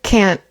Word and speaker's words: can't: Uh so the T is kind of like a hard stop instead of a real T sound.